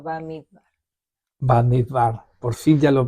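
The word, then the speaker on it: במדבר: Bamidbar, por fin ya lo pronunciamos bien, ya que vamos a cerrar, ¿no Estamos es cierto?, terminando ya.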